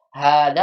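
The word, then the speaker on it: هذا: Hada Iya. walaupun pengucapannya panjang tapi nggak ditulis alif hanya.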